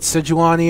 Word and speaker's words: Sejuani: I know they pronounce it Sejuani or whatever, but if I'm actually going to pronounce it that way, it sounds much better pronounced as Sewani, and it just sounds more authentic to me, I guess.